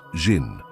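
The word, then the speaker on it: 心: please pacify my mind in Chinese mind is pronounced Jin and Jin is the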